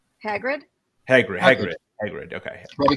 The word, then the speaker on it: Hagrid: stuff then we have uh the entrance of hagrich no wait I say it right Hagrid Hagrid Hagrid Hagrid okay Robbie Coltrane yeah yes